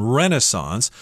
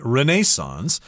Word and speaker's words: Renaissance: That's the that's the American pronunciation, Renaissance. If you're talking to someone from England, they're likely going to say Renaissance.